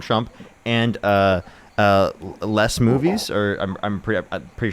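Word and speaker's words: Moonves: There were people specifically Donald Trump and uh uh less movies or I'm I'm pretty pretty sure that's how you pronounce movies.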